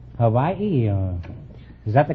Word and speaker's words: Hawaii: yours no innuendos from you we invited some Hawaiian dancing girls to the program tonight now you're